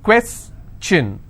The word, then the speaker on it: question: information if i have the word question how many syllables two quests chin all right and i will stress here question clear so the rule